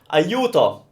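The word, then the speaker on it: aiuto: help Felicia ayuto ayuto so it's when I say you as in you know like English you kind of ayuto benissima this next word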